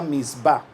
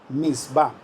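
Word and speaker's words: מצוה: están en la biblia en el hebreo es a esa palabra mandamientos se pronuncia mitzvah mitzvah se pueden ustedes imaginar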